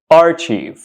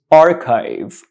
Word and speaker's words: archive: word most students pronounce this word Archie which is completely wrong this word is not pronounced Archie this word is pronounced archive archive archive archive so